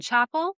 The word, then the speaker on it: Chappell: First of all, let me spell it because the way you're saying it. Chapel. Yes. Chappell. Chappell. That's not what I'm saying. Roan. I said ROAN. Chaperone. Yeah, we're Southern, and I heard Chap chaperone.